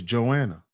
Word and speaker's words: Johanna: Oh, the H is silent. Okay, so it's Joanna. Okay.